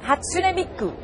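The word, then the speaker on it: 初音ミク: outside they had swooning Miku show did I pronounce that right Hatsune Miku that's right well Susan if it was a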